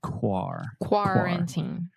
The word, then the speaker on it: quarantine: time quarantine quarantine okay the first syllable is where we are having some issues quarantine yes the first sound specifically sometimes you're saying car like a car Kaku but you want to say quarantine perfect yeah so this